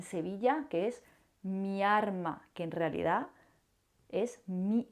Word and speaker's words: miarma: qu'on utilise beaucoup dans ma ville, à Séville, "MIARMA", qui, en réalité est "MI ALMA" , mais les gens de Séville, certaines personnes de Séville, vont prononcer "miarma".C'est-à-dire, il n'est pas étrange de confondre ces deux